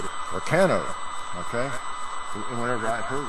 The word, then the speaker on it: Carcano: And he said Carcano. I heard him say Carcano. And it came to me because my entire life I heard everybody pronounce it Carcano, okay?